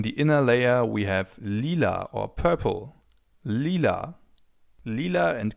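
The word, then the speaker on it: lila: Finally on the inner layer we have leela or purple.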